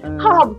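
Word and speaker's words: herb: でもそうでハーブとかって言ったらね No you H は発音しないのよそうオケーだ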